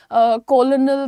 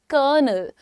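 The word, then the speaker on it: colonel: Spelling देख करके लोग इसके प्रोनाउंसिएशन में कंफ्यूज हो जाते हैं, कोई इसको बोलता है कॉलोनल, तो कोई कुछ बोलता है, लेकिन आपको मालूम है कि आर्मी की रैंक होती है कर्नल, कर्नल, कर्नल, कॉलोनल नहीं बोलने की जरूरत है।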